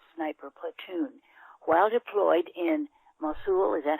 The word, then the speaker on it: Mosul: While deployed in Mosul, is that how you pronounce it? Mosul, Iraq.